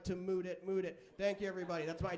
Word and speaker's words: Mudit: leave you with this i have a unique name or unique pronunciation that is mood it a fun way to